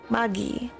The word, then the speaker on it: Magi: Like Miggy, but pronounced in Japanese. Magi.